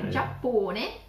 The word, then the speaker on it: Giappone: I guess you don't use a J anyway in the Italian alphabet. So you change it with a G, E. Giappone.